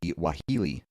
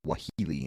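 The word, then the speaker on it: Waheela: nahini Valley some attributed the suffers to the wahili a giant wolf-like creature that hunts in packs of two or three direwolf Maybe why Healy yeah the wahili it's spelled w-a-h-e-e-l-a a giant wolf-like creature my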